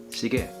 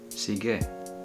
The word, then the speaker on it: sige: also say Okay so the way to say okay is seege sige and you can also